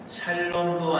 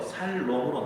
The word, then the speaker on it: 샬롬: 근데 이제 발음을 정확히 하셔야 돼요. 샬롬도 아니고 살롬도 아닙니다. 성경에는 다시 한번 보세요. 살롬으로 나와요. 살롬. 근데 이제 이게 원어 발음이다 보니까 샬롬 하는 그 중간이 맞다고 합니다.